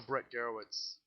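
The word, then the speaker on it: Brett Gurewitz: It was funny how Brett Garowitz. Yeah, that's how you pronounce it.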